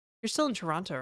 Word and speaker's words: Toronto: Somebody said Canadians don't pronounce the second T in Toronto. So, I started saying the second T in Toronto.